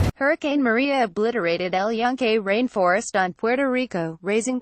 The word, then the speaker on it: El Yunque: about 30 miles west a previously unimaginable sight El Yunque pronounced junk' has been an enormous source of pride